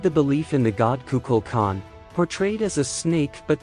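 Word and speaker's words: Kukulkan: by green and blue the pronunciation in the Maya language is kukul Kagan how did the belief in the god kukul Khan portrayed as a snake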